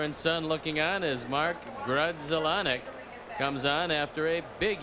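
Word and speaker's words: Grudzielanek: there's father and son looking on his mark grudzellonick comes on after a big year at harrisburg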